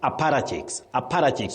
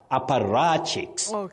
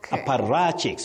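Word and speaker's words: apparatchiks: The problem is many people innocently mispronounce that word as APPRATCHIKS with the stress on pa. But that is not the case. The stress is on the part ra. APPRATCHIKS. APPRATCHIKS, not APPRATCHIKS.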